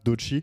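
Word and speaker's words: Doechii: Elle a fait ça se dit comme ça dochi. Dochi. Ouais. Il y a on prononce pas le e.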